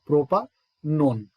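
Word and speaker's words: propanone: मैं ई साइलेंट करता था, प्रोपा नोन, गॉट इट।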